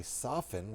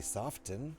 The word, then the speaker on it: soften: But when you say soften, you don't say soften. That sounds That sounds dumb.